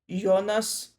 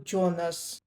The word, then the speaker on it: Jonas: Pardon me, but I hear Jonas as a name rather than the last name and I pronounce it the German way. Yonas like the main character from the TV show Dark from from Netflix.